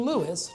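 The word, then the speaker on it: Lewes: And we've been Lewis, two syllables ever since.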